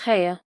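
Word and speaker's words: Haigha: His name is Hea." He pronounced it so as to rhyme with mayor.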